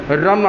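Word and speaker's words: ह्रां: जो कोई नए लोग आ रहे हैं उनके लिए भी बता दूं कि HRAM, रम आएगा, H साइलेंट रहेगा, नेवल से, नाभि से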